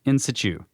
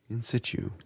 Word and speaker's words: in situ: In situ is in situ, but the T is almost silent, but not quite, and you say it kind of fast. In situ.